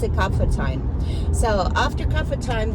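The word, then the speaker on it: कफ: Kapha is H.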